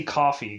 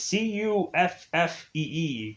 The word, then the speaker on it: Cuffee: So we also have Cuffy or Coffee. I want to say it's Cuffy, but I want to say Coffee because it just like that ill pronouncing just is to be awful. But it's Cuffee, Cuffy. So this woman, which we